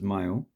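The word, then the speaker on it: Malé: So this has the Mali Friday Mosque, which is in the capital, and it's pronounced as male. I like to call it Mali, so male just doesn't sound right.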